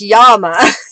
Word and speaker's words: llama: Yeah, llama in Spanish is pronounced llama.